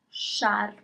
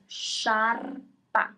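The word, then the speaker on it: sciarpa: And finally, scarf is sharp. Sharp. Okay, you pronounce all the letters. Sharpa.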